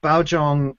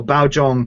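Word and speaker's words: Baozhong: little bit more complicated B Jong is how most of the people that I've talked to have said it or close enough to it so B Jong so the Bao ba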